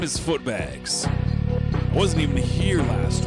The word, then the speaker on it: Footbags: My name is Footbags, pronounced with the book bags.